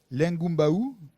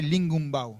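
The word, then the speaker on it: lingoumbaou: Vous savez, quand on dit lingumbao, il y a un son comme ça, ing, qui est particulier.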